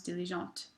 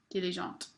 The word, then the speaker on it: diligente: For example, diligent, hardworking, becomes diligente. Notice how I'm going to emphasize and I'm going to pronounce that last T in the feminine form here. I would not normally pronounce it here. Diligent, diligente.